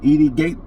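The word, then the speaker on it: Edi Gathegi: Edie Gaethje.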